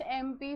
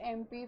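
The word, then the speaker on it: MP: लिखा है याद रखो बट इसका प्रोनाउंस एम प च ए कम फर्स्ट ए है वल्स में आता है वल्स में आता है ए ए ई आई ओ यू ठीक है अब कह रही हूं मैं एमपी but immediate I एम not saying म पी नो राइट मतलब इसका इसका प्रोनाउंस एम ए ए से होता है राइट तो इसके पहले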